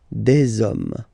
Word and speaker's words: hommes: after that you just put the s at the end. You don't pronounce it, so you get des hommes.